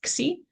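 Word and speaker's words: ξ: So we're going to say if the slack variable xi, that's how you pronounce this, xi, is equal to 0, then the point is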